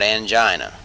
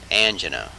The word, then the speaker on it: angina: cutaneous mechanoreceptors angina pectoris notice not angina angina kinesthetic homunculus spinothalamic medial